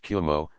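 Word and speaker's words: 雲: to that of clouds, which are pronounced Kumo, though written with a different ideograph.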